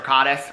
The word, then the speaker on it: Caddis: up on instagram okay this katus i think i'm pronouncing it right c-a-d-d-i-s caddis or cottus i think it's caddis it like their marketing